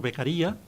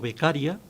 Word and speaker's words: Beccaria: El Código Penal hace suyo el principio político criminal expuesto ya por Beccaria, o Beccaria, que parece que es la pronunciación más acorde en italiano, de que el mayor